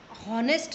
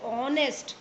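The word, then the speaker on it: honest: अब हॉनेस्ट नहीं बोलते, इसको हम बोलते हैं ऑनेस्ट. क्या बोलते हैं? ऑनेस्ट. तो ओ का साउंड आ रहा है, एच यहाँ पर साइलेंट है, तो इससे पहले भी हम एन लगाएंगे.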